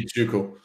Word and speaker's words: Tycho: Tycho. Tycho? Tuco. Tycho, Tuco. That's one way. I mean, the correct pronunciation would be Tuco.